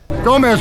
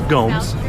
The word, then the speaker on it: Gomes: Gomez, would you like some law? Yes, sir. Please stop mispronouncing my name. It's Gomes.